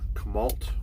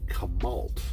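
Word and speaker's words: Chemult: month i think and i pronounced it wrong it's it's ult at the end c-h-e-m-u-l-t and uh for some reason i was pronouncing it kamalt like you know like malt uh milkshake you know or malt liquor right so we're gonna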